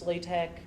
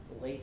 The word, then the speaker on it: LaTeX: And then we've got, that's pronounced LaTeX. Okay, looks like it's latex. It's LaTeX.